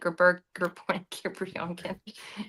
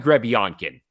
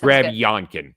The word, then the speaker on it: Grebionkin: I think it's Nikita Grebionkin. Yeah, that's perfect. Yeah, that's Grebionkin.